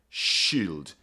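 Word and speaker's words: Scyld: Shield is how this word is pronounced.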